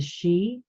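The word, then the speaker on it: Sidhe: Federation so she kind of moves around the Galactic Federation in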